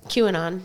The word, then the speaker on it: QAnon: QAnon.